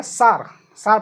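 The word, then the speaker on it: tsar: Russia was rule by तासार, अब क्या है, सार पढ़ेंगे, टी साइलेंट मानेंगे, सार वहाँ के राजा थे।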